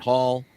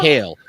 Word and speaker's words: Hale: I got her name wrong the first time she was on the podcast, and I consistently do it because I think what I'm thinking. Anyway, it's Hale with an E, not a double L.